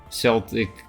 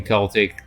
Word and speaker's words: Celtic: is the football team oh they actually have different pronunciations Celtic the football team Celtic the culture that's interesting with more